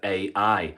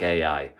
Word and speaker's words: Ai: out the town of Ai. I'm going to call it Ai. I'm sure it's pronounced I, but I'm going to say Ai because that's how it's spelled, Ai.